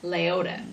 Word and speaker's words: Leota: for us oh I have a lady named Leota Doherty banker and uh late how do you say that name Leota Leota Leota which is actually I love that one too